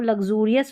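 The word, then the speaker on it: luxurious: इसको लग्जूरियस पढ़ेंगे, लग्जूरियस, ज करके हम एक्स को प्रोनाउंस करें तो लग्जूरियस।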